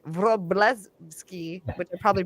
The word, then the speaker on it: Wroblewski: We've got Ricky Ho and Wroblewski, which I just tried to say it the Polish way, which would be like Wroblewski, which I probably butchered.